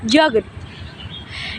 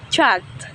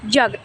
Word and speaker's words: jogged: As if the ending were a T, walked, and we don't read jog, jogged. The correct one is jogged. Pronounce it jogged. With a clear D sound on the end, jogged.